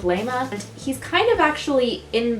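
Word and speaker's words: Layma: the ghost's name is lima it's either lima or lema but that just seems like a weird name lema it's spelled l-a-y-m-a i'm just gonna go with leima he's kind of actually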